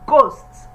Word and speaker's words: ghosts: Number 12, we have ghosts. So the H is silent.